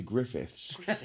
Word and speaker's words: Griffith: Griffith. You fucking... It's Did weird. you get your name wrong? Yeah, but the only reason being is because I've got him saved in my phone as my Griffiths.